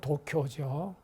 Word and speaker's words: 도쿄: 일본의 수도는 도쿄죠. 도쿄, 동경인데 동경이란 동쪽에 있는 경도, 교토라는 이야기였습니다. 서쪽에 교토가 원래 있는데 동쪽에 있는 교토다라는 뜻에서 동쪽의 수도라는 뜻에서 동경이라 그러고 일본 사람들의 소리대로 발음하면은 도쿄가 됩니다.